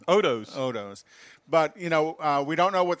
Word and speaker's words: Otto's: out there and support Otto's. We're not real sure what the status is with Tailpipes and Tacos. By the way, that's spelled O-T-T-O-S, not A-U-T-S. Yeah, Otto's. Yeah. Sorry. Odos.